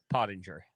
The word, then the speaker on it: Pottinger: Pottinger.